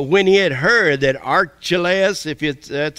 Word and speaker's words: Archelaus: But when he had heard that Archelaus, that's how you say it, was reigning over Judea instead of his father Herod, he was afraid to go there.